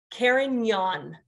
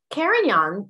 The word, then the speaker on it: Carignan: be sure you know how to say it karen yawn karen young the french name for the spanish great mozwello